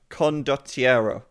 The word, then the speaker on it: Condottiero: Condottiero. I can say it. I just always forget, because I've said it wrong for so long that it's kind of like legitimized the wrong pronunciation in my mind.